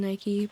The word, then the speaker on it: Nike: I just thought its name was Nike, and I also think that's like the European way of pronouncing Nike, but yeah, these were the coolest little cards.